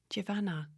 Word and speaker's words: Javana: No one can say Javana. Really? No. I'm always like, put the van in it. Javana.